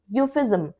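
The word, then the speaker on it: euphemism: इसके अंदर ई साइलेंट रहता है। तो हम ई को नहीं पढ़ते। हम इसको जो प्रोनाउंस करते हैं वह बोलते हैं यूफिज्म।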